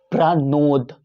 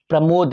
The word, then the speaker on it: प्रणोद: ठीक से इस नाम पे उच्चारण सुने, प्रणोद, प्रमोद नहीं।